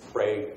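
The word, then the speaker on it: Prague: Uh and then this is again a masonry building uh that was damaged by the magnitude 5.6 Prey earthquake. Yes, that is how they say it in Oklahoma.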